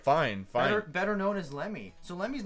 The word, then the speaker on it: Lemmy: Oh, Lemmy.